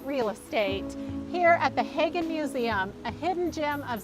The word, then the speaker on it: Haggin: Susan overt at the Hagin Museum she says pronounced like wagon you've got it all